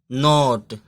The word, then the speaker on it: knot: जैसे यहाँ पे इसको KNOT तो इसको पढ़ेंगे नोट।